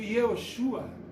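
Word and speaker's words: יהושע: Em hebraico, né, esse nome se pronuncia como sendo Yehoshua, que significa exatamente Jesus.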